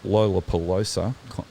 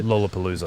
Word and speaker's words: Lollapalooza: against the pmrc at lo lolapolosa pelosa lollapalooza thank you for helping me with that pronunciation that's right um and